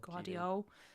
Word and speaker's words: Gvardiol: How do you pronounce his name? Guardiol. Yeah, Gvardiol would be maybe the one it'd I'd probably get.